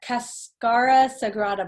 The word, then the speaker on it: cascara sagrada: one herb you'll notice on the label uh cascara sagrada bark that's how you say it this has